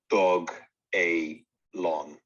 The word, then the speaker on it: Dogelon: i don't know so on the first website it was announced as dog a long okay so that's how they want us to pronounce it because doge or dog